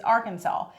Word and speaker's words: Arkansas: The only acceptable way to pronounce it is Arkansas.